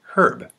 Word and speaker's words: herb: or water and also herb is actually pronounced herb common in a lot of parts of accents in the United States the a n a.m.